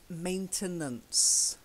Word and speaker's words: maintenance: maintain the websites and then we have maintenance maintenance if I do shut the schwa sound mmm your favorite is